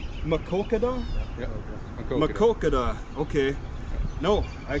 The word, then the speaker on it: Maquoketa: Or how do you pronounce Maquoketa. it? Maquoketa?